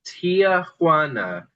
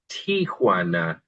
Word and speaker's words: Tijuana: A lot of people think that the city is called Tiaana. It's not actually. I think it may have used to have been called that, but it's actually Tijuana. So just TI J, not T I A J.